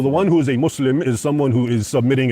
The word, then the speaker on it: Muslim: It's not Islam, it's Islam, and it's not Muslim, it's Muslim. And the two words are connected, right?